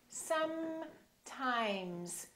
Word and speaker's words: sometimes: give you an example look at this word some times we have a s and we have a s and then the m is also a continuant so take your time and fully pronounce the continuance so i want you to say sometimes sometimes don't say something a